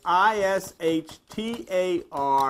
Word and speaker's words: Ishtar: Tammuz's spouse's name was Ishtar, pronounced Easter. Ishtar. You pronounce it Ishtar. They pronounced it Easter.